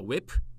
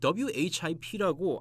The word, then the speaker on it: WHIP: 이 웹 다시 말씀드리지만 이거 발음할 때 이거 웹입니다. 웹. 네, 웹이라고 하는데 한국에서 어떤 캐스터분들이 웹이라고 안 그러고 WHIP라고 하나하나를 읽더라고요.